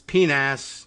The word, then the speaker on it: PNAC: And I have always argued that the C in PNAC is for century, and that's a soft C, and century should be pronounced correctly, and it's PNAS, not PNAC.